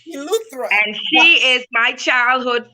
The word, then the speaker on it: Eleuthera: I'm gonna say, because Latanya, how you pronounce that one? Rock Sound, Eleuthera, Bahamas. Eleuthera.